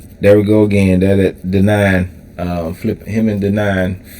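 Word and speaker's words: Denaun: Okay, so there we go again that denying um flip him and denying flipping over couch uh sofas finding change so they can eat. Um denying he I see he got his fingerprints all over this album.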